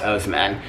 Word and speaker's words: Oseman: graphic novels by Alice Oseman, if that's how you pronounce her name. It might be Osman, but I think it's Oseman.